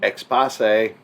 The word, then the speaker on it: Exposé: and watching lost season three episode 14 expose expose you're 100 correct on that pronunciation yes i'm not even going to argue